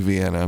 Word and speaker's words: Vienna: But like, we played this little festival in Vienna, Ohio. Vienna? Vienna. It's spelled like Vienna, but it's Vienna.